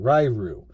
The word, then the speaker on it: Ryu: Now I'm going Ryu because that's from Street Fighter. That's how you pronounce it, Ryu.